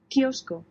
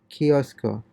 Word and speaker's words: kiosco: The K is pronounced like an English K without the puff of air, and the W is pronounced like the B or V when it occurs between vowels.